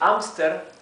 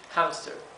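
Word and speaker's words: hámster: So you can read it Amster with a mute H, or you can spell it, you can pronounce it as in English, hamster, right, with an exhaled H, because this is actually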